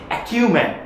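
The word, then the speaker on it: acumen: এবার আমরা আসি আরেকটি ওয়ার্ডে যেটার উচ্চারণ হচ্ছে অ্যাকিউম্যান।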